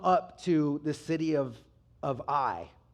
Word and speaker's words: Ai: They come up to the city of Ai. It's spelled A-I.